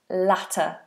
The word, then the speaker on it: latter: see you later and latter as in the last thing I mentioned, the latter. Later, latter. One has a diff thong later. I'll see you later. And latter is a short vowel.